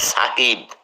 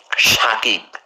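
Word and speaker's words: Sakib: আর ওর নাম সরি নামের উচ্চারণ হবে সাকিব কিন্তু ওকে বলে সবাই ভুল করে শাকিব এখানে শাকিব হবে না লেখে দন্তস দিয়ে উচ্চারণ করে শাকিব নো এস এ কে আই বি সাকিব ঠিক আছে আবার ওই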